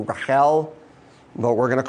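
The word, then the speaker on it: רָחֵל: beautiful girl and actually the hebrew pronunciation of what was probably closer to raquel but we're going to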